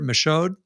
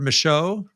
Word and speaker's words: Michaud: is our guest gilbert michod out there i did with the d that's gilbert michaud a french pronunciation and uh gilbert's a